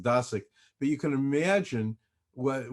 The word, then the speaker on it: Dosick: me by the way my last name is pronounced dasic but you can imagine